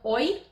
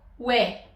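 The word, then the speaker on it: ㅚ: "ㅝ", "ㅟ" "ㅢ" "ㅞ" and "ㅙ…™" But this one is not pronounced "oi", as the vowels it is composed from, We pronounce it "woe" Now let's check them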